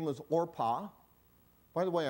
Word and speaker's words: Orpah: women one's name was Orpah by the way I think Oprah is a mispronunciation of Orpah I think that's how her name came so and then and